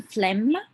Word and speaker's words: phlegm: you bring up any phlegm G hero is silent carry on means continue